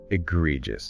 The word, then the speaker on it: egregious: Egregious. Egregious. EGREGIOUS. Stress the second syllable here. EGREgious. And that ending, aegis, it gets reduced. Sounds more like aegis.